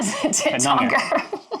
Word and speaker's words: Tettnanger: Is it not Tettnanger? First syllable.